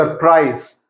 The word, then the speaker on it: surprise: there's a sound C surprise s is the first s has an S sound but the second s has a C Sound surprise you know there's a z kind of a sound so those are the